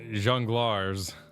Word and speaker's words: jongleurs: D is the jongleurs. Is that how you say it?